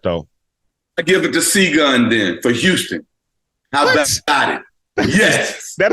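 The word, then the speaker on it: Şengün: him I know who he is and it's pronounced single I know exactly help me out I can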